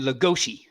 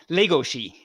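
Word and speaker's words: Legoshi: nouns okay giraffe and lagoshi or i should say lego shi i should pronounce it right actually since it's a japanese thing i should be pronouncing it okay and then finally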